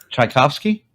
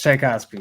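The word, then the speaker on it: Tchaikovsky: you talking about talking about a composer yes chaikovsky yes chaikovsky thank you I can't say it what you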